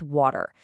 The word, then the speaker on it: water: The exact same lazy T rule is what's happening with water. The T is right there between the A and the E sound. So, it flaps and water becomes waiter.